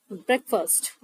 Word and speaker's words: breakfast: AST most of the people announced it as break fast which is wrong that's the pronunciation of this word is breakfast breakfast alright now let us know about the